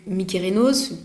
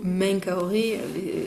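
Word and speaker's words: Menkaure: Et donc Mykérinos, qu'on appelle plutôt Menkaoré, les Arabes ont plutôt gardé l'appellation égyptienne de l'Égypte antique, parce que nous on a les les mauvaises, euh, les mauvaises prononciations adaptées par les Grecs du coup.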